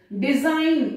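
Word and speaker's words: design: डिजाइन, ये भी बहुत कॉमन वर्ड है, ये जी यहां पर साइलेंट है।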